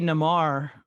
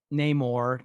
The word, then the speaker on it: Namor: because that could be namar um the submariner or namar um namor however you want to pronounce it i call it namar yeah um cause i'm